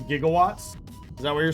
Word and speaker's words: gigawatts: Oh, so he pronounced it jigawatts, but it is gigawatts.